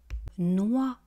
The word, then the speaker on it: noix: Noix. Une noix des noix noix une noix des noix on ne prononce pas le x à la fin et vous voyez que